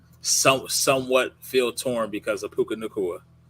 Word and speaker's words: Puka Nacua: You know he likes to move around, and I know Chuck Stafford plays somewhat feel torn because of Puka Nacua. Puka Nacua. You guys are saying his name wrong.